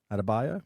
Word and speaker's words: Adebayo: So firstly, Bam Adebayo. I believe that's how you pronounce his name. Bayo. Bayo? Adebayo? Is that it? Adebayo?